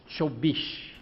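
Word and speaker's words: চব্বিশ: Now how do you say 24 in Bengali? 24. Chobish.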